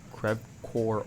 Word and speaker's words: Creve Coeur: tournament video This Is The Crab core open I believe I said that right I've been pronouncing it wrong in my other videos so but yeah hole